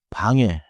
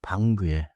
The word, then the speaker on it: 방에: You hear 방에, not 방구에. Listen to a short dialogue.